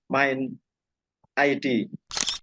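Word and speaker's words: MIND ID: Gris Natali jadi komisaris main id bacanya main at ya main ID dulunya Inalum kan Iya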